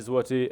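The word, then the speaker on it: złoty: Okay, so the value of their services, they might say, well, the value of our services is 90 zloty. Did I pronounce it right?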